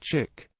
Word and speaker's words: chic: Another theory links chic to the word chicane, although the French pronunciation is now virtually standard and was that given by Fowler. Chic was often rendered in the anglicized form of chick.